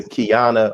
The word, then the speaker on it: Qiana: and also a member of Kingdom Come, Sister Qiana Muhammad. Did I pronounce that right?